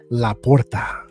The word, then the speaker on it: Sam LaPorta: I think that's how you say it with the R's. Laporta.